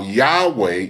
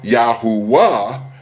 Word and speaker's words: Yahweh: seeking to understand how Yahweh is pronounced. Furthermore, the pronunciation Yahwh or Yahwa does not carry any meaning in Hebrew.